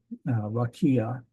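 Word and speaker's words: רקיע: expanse of the sky we have ra rakia rakia um ra key a and then the I doesn't make a sound at all we're almost done then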